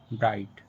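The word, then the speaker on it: bright: जैसे लाइट, नाइट, फाइट, माइट, ब्राइट। Cot, fought, taught, what, thought. इन सभी words में word के लास्ट में जी एच टी लेटर आया है और जी एच टी लेटर में जी एच साइलेंट है।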